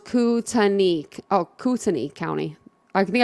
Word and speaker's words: Kootenai: Oh, it's pronounced Kootenai.